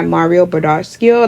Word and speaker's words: Mario Badescu: I'm just gonna take my Mario Badescu, that's how you say it.